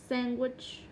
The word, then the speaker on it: sandwich: Sandwich. Chứ ai đọc là sandwich đúng không?